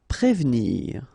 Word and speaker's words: prévenir: Prévenir, okay, remember that first you've got this accent aigu on the top of e, so here it's e, okay, and you don't insist on this here, so prévenir, prévenir.